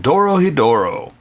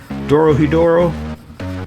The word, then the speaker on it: Dorohedoro: DoroHeDoro? Well, that's how they say it on the anime. So, or yeah, that's how the announcer says it.